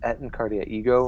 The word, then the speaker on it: Et in Arcadia Ego: with Worf yeah maybe at and cardia what Etna cardia ego right is the pronunciation yeah maybe it's a